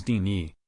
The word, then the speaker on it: Tiny: where a woman named tiny pronounced as teeny it's a dutch name said something like i